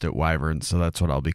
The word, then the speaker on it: wyvern: But then there is the wyvern, or I think sometimes it's pronounced wyvern. I always pronounced it wyvern, so that's what I'll be calling it.